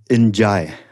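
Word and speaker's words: N'Diaye: smart enough to say how do you pronounce your last name so it's enjay and this is something i should have known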